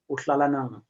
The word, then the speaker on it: Utlalanang: Utlalanang, is that correct? Utlalanang, please unmute yourself there. Am I pronouncing your name, man, correctly? You say it correctly, TJ.